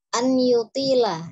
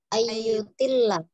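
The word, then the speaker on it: أن يطيل: Kemudian an-yutila, ya, itu tadi saya sampaikan di awal, jadi jangan diidghamkan, dan juga tadi Umi bacanya ayyutilla, toknya dipanjangkan ya, an-yutila, ya, lamnya tidak bertasydid, tidak ditekan, tidak dimasukkan, jadi an-yutila ghurratahu.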